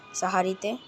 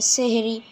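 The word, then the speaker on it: সাহরি: অনেকে মনে করেন যে সেহেরি অথবা অনেকে বলে সেহেরি। কিন্তু আসলে এইটা হবে না। সেহেরির উচ্চারণ এটা না। সেহরি শব্দের অর্থ জাদুকর। আর সাহারি তো মানে আমরা যে করি সাহারির তো উচ্চারণ হবে কি সাহারি তো আপনারা এটা একটু মনে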